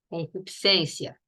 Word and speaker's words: concupiscência: Você fala acrescentar, descer, crescer, a mesma coisa se fala concupiscência. Não se pronuncia esse S.